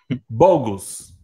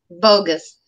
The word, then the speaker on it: bogus: Bogus. Well, bogus? Bogus. Bogus. Focus, bogus. Is the same rule to pronounce, or almost the same. But that O is super important. Fo and bo.